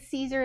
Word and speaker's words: Siser: It is Siser is how it's pronounced, like the salad.